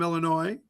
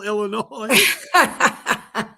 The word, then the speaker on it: Illinois: You know what an alley is if you're from Illinois. You don't pronounce the S at the end of Illinois.